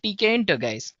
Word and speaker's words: Tkinter: Python and we have TK inter yes it's spelled as TK inter right so it's t k i n t e r guys well among all